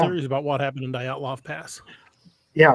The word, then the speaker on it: Dyatlov: That with I can't pronounce it right. It's called the Ninov Pass or something. There happened in '59 in Russia. Oh, Dyatlov Pass.